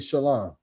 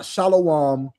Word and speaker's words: shalom: bid peace unto him the appropriate way is to say shalom. That's the appropriate uh Hebrew. That's the appropriate um you know pronunciation of the word peace is shalom. Not shalom, not shalawam. Not anything outside of shalom.